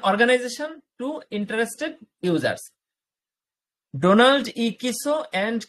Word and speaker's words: Kieso: Donald কিসো and Kimmel. Donald কিসো, কিসো বানানটা দেখেন, KIESO, কিসো মানে উচ্চারণের সাথে কিন্তু নামের ইংরেজি বানানের অমিল আছে। KIESO, কিসো।